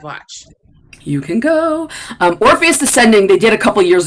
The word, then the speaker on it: Orpheus Descending: tennessee williams play and i always say it wrong it's either orpheus rising or orpheus descending orpheus descending descending they have two shows